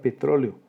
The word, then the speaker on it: petróleo: Tercero, la palabra petróleo, 4 sílabas. hiato entre la vocal abierta E y la vocal abierta también O. La sílaba tónica es la penúltima, es una palabra esdrújula y por eso tiene tilde.